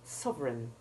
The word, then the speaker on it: sovereign: But now note what happens when the syllable EIGN is not stressed. Instead of the long A1 of rain, it has the EI4 sound, as in sovereign and foreign. It is the same as the short E3 sound in the first syllable of because.